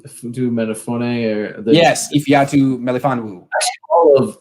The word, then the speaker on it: Ifeatu Melifonwu: Ifeatu Melifonwu yes, Ifeatu Melifonwu.